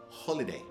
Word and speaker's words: holiday: It's a compound, so it's made from two words, holy and day. So it used to be pronounced that way, holy day.